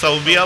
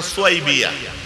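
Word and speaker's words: ثويبة: আবুল আহাবের একজন দাসী ছিল, দাসীর নাম হচ্ছে অনেকে সাউবিয়া বলে, কিন্তু আরবিতে উচ্চারণটা সুয়াইবিয়া।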